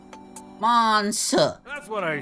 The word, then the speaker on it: Manseju: What's man say? I think it's pronounced more like Monse. Monsa.